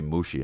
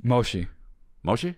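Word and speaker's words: もしもし: So, also, it should just be mushi, huh? Too long. Mushi, mushi. Yeah. Mushi. Just mushi, dude. Moshi. Moshi? Moshi. How do you know it's moshi? So you spell it M-O.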